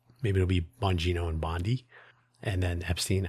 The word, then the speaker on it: Bongino: And by the way, I always want to say Boingo when I see that name, like Oingo Boingo. Maybe it'll be Bongino and Bondi.